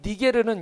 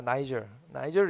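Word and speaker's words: Niger: 이 니게르는 영어로 보여주실래요? 니게르는 영어로는 나이저입니다. 나이저를 이렇게 읽습니다.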